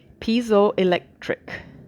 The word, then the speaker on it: piezoelectric: They take advantage of properties of crystals they call piezoelectric, if I pronounce that right.